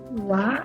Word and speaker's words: は: Wa looks a lot like ha. In fact, it's the same exact letter, but because it functions as a particle, a different part of speech, it is pronounced wa.